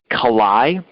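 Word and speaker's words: Kallai: the light of marxism leninism the author's name is spelt g-y-u-l-a eula the last name is kalai spelled k a l l a i we're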